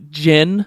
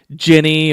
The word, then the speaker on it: djinn: So it's Djinn or Djini. I've noticed a lot of people pronouncing it like Ginny or Jinai.